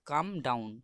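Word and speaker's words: calm down: এখানে ভুলেও উচ্চারণটা কালম বললে হবে না, কেন এল এখানে সাইলেন্ট লেটার রয়েছে, ওই জন্য আগে থেকে বলে দিচ্ছি এই উচ্চারণটি হবে কাম ডাউন, উচ্চারণটি হবে কাম ডাউন।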